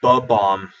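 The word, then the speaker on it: Bob-omb: From Mario, the bow bomb said like "buh bomb."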